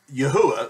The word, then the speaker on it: Yahuah: that is not his name his name is Yahweh these four letters here if you were reading